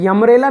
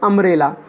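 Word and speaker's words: umbrella: जब हम इसको पढ़ेंगे, यमरेला नहीं पढ़ेंगे, हम इसको पढ़ेंगे अमरेला। तो अमरेला में अ साउंड आ रहा है तो इस वजह से हमने यहाँ पे एन का यूज़ किया।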